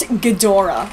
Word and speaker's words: Ghidorah: It's pronounced Ghidorah, but I hate how she says Ghidorah.